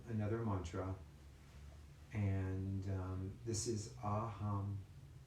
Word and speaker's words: aham: So with your eyes closed, and don't worry about the pronunciation, it's A-H-U-M, aham. So let's say that together, aham.